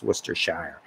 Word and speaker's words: Worcestershire: And yes, I do know how to pronounce Worcestershire.